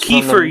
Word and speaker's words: Kiefer: Although, if Kiefer Sutherland and his Lost Boys... Kiefer, you son of a bitch. It's not T-H, it's an F.